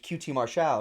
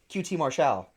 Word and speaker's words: QT Marshall: Call him QT Marshall. That's how you say his name. Not QT Marshall. No.